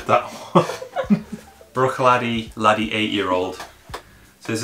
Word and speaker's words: Bruichladdich: brew take the ladder brawny my goodness you butchered that Bruichladdich laddie eight year old this is another one